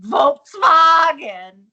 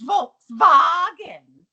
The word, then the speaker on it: Volkswagen: There's more important things in life than a used Volkswagen. Volkswagen. Volkswagen. Yes, there you go. I actually confirmed with some car experts. That's how they say it in Germany.